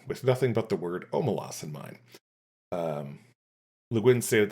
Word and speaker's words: Omelas: felt like it with nothing but the word omalas in mind. Um, Luin stated that the city's name is pronounced Omalas.